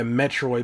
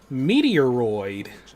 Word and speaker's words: Metroid: Oh yeah, Metroid was another one I mispronounced all the time. I was like, ooh, Meteoroid. It's like that. No, that's incorrect.